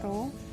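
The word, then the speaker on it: rho: jenis lambangnya itu rohyadi bacanya nih roh hampir kayak verve tapi Roro kemudian rumus dari massa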